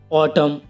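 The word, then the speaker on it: autumn: और ऐसे ही और एग्जाम्पल हैं, जैसे हिम, ऑटम, डैम और कंडेम।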